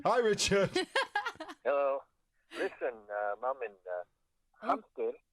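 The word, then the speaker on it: hámster: Listen, Mom, hamster is this, one of two words in which the H is pronounced like a J española.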